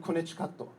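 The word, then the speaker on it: コネチカット: He taught me that word and konnichikato, which is how you say Connecticut in Japanese.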